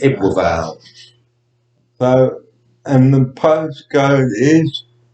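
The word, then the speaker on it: Ebbw Vale: um brain would drive a View and that I kind of pronounce well it doesn't make any sense when you spell it that's why so it's e b b w and then a new word v-a-l-e so it's evil valve so and the postcode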